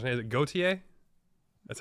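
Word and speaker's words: Gotye: Goatee? Dave, you go first. It's the only way I'll be able to talk on this podcast. You know, It's Goit. is that how it's pronounced?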